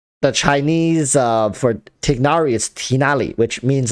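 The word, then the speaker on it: Tighnari: of the Chinese text I would be saying tinari because I I when I have questions about how to pronounce the name I always look at Chinese and it turns out tinari was not right yeah because it's tinally if you go look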